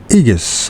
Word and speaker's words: aegis: to live under the aegis of fate. And what does it fucking mean, anyways? What does aegis mean? Aegis. Aegis. I still can't say the fucking word. Aegis. The A is not pronounced.